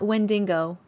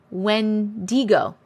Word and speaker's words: Wendigo: say that he does go through um not when dingo wendigo thank you thank you very much I'll probably